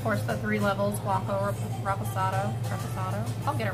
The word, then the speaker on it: Reposado: And then, of course, the three levels, Blanco, Reposado, I'll get it right, or Anejo. So, yeah, it's interesting to tell how different they are. In Spanish, you have to roll your R's, so it's like Reposado.